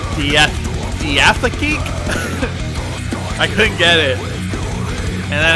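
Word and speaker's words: Diatheke: Oh, that is Diatheeki. It's the correct way. Okay. I remember when I listened to Magnify for the first time over on Christian Metal Source. And I was like, Diatheek? I couldn't get it.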